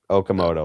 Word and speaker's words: Okamoto: Oak, Okamoto. like the tree. Okamoto, like Okajima.